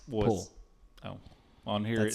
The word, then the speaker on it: Pwyll: Pool? Pwyll? Yeah, it's Pool.